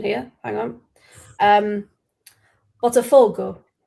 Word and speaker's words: Botafogo: Botafogo. Correct. That's what it's. Well, I would say correct as in what you put there. Yeah, so it's the stress on the four, apparently.